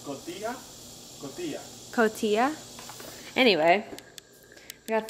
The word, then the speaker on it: Cotija: Cojita? Cojita? Cojita. Really? J is gonna be silent. But it's T-I-J-A. So it's Cotija?